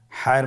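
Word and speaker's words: ح: হা হরফটি কীভাবে উচ্চারিত হবে? হা হরফটি উচ্চারিত হবে কণ্ঠনালীর মধ্যখান হতে। গলা চিপে ধরে আপনি উচ্চারণ করুন। আপনারা আমার সাথে বলুন হ্যাঁ। আবার বলুন হ্যাঁ।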